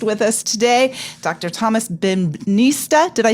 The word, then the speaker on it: Bembynista: Thomas Bembynista. Did I say it right? Say it for me. Bembynista. Bembynista.